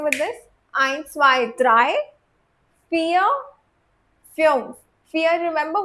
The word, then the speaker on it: vier: Eins, zwei, drei, vier, fünf. Fear, remember, V is always pronounced as F in German.